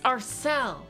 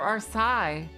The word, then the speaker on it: Arcel: It's Arcel. I thought it was the Arce or Arsai. Yeah, I remember seeing that.